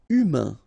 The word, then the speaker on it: humain: Humain. Remember, H doesn't exist.